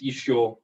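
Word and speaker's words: ещё: It's isho, like still, and it's spelled with the other e and the sha and the such, but more it's simplified to esche.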